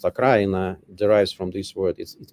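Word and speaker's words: Украина: So I would say that also when we say Ukraine, the word Ukraine in Russia means it is pronounced Akraina, derives from this word.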